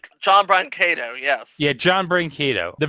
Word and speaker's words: Brancato: I hope I pronounce this right. John Brancato? John Brancato, yes.